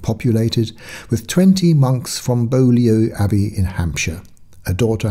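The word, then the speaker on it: Beaulieu: plans of hailes and bolo which um let me admit it right here is locally pronounced buy and put them on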